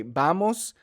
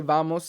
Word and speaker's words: vamos: sound so they'll say vamos instead of bamos so the the dictionary says you should say vamos vamos with the B sound for V and B the same sound but you could say vamos in some places you'll